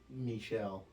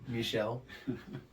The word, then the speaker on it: Michel: Michelle. I believe so. Like that. Like Michelle. Ben Stiller's right hand man on Dodgeball, you know? Yeah. Gigantic security guard looking guy named Michelle.